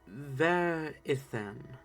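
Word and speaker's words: Ver'ith'an: Verithan. Alright, and just so I have this down, how do you spell that?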